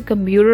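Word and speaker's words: computer: सो इसकी प्रोनाउंसिएशन जो होगी वो कंप्यूटर होगी, because T is between two vowels, and जब टी बिटवीन टू वाउल्स आ जाता है, लास्ट में भी कुछ एन ना हो, तो हम इसे डी साउंड करते हैं। लाइक अमेरिकन्स इसको डी साउंड करते हैं, ब्रिटिश इसे टी पढ़ते हैं, लेकिन अमेरिकन इसे डी साउंड करते हैं। कंप्यूटर, water, bottle.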